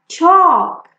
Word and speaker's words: chalk: Talk, chalk, the L is silent.